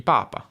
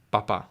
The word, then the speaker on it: papa: E quindi possiamo dire Giovanni va al cinema ogni morte di papa. Raramente. Attenzione all'accento. Papa, non papà, ok?